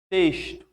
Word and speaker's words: texto: Caixa, texto. Olha que esse X está com som de X, mas esse X está com som de S.